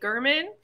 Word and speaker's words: Gehrman: um so this is the Protege by Jody German and the only reason I did finally realize